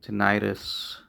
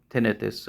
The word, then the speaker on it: tinnitus: And I do believe now tinnitus or tinnitus, as some people pronounce it, is probably most likely caused by stress, mood disorder, and sleep issues.